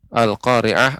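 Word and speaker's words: القارعة: Bapak, untuk pengucapan ri ini masih agak terdengar lebih banyak getaran ya. Dikurangi lagi getarannya. Al-Qari'ah.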